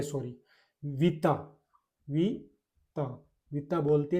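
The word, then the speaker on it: vita: उसके बाद में वी आई से एक और बनाऊं तो सबसे simple we I plus T ओ, टी A sorry, विता, विता, विता बोलते हैं जिंदगी को, जिंदगी को विता।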